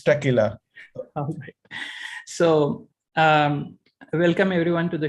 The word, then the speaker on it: Taqelah: to present at tequila singapore how do you pronounce it tequila right yes it's tequila so welcome everyone to the show and i